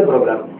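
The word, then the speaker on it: programme: இதை உச்சரிக்க கூடாதுன்னு சொல்லுவேன் அதேபோல ப்ரோக்ராம்லயும் இந்த எம் இ போடணும் ஆனா உச்சரிக்க கூடாது ஏன்னா இங்க எம் இயும் சைலெண்ட் அப்படின்னு சொல்றேன் அதாவது சைலென்ட்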